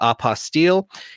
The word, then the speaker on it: apostille: unrestricted fees available with opposite work i had to call it opposite otherwise it doesn't rhyme with unrestricted fees but i know you call it oppa steele and i we're going